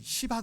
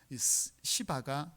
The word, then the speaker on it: 시바: 종의 이름이 뭐냐 며 여러분 발음을 잘 해야 되는데 잘 못하며 이름이 시바 것 은 유 씨